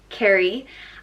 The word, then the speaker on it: Kerry: Next up is Kerry, and it's pronounced Kerry.